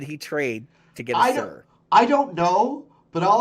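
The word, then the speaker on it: Suhr: I was watching Music Is Win's channel, and he went into Guitar Center, and he got himself a Sir is how you say it, right?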